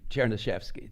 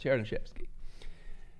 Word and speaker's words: Chernyshevsky: Then the next book, next year, Chernyshevsky. I know it looks like unpronounceable, but if you just say it out loud to each other, it's easy. Chernyshevsky, that's all, Chernyshevsky.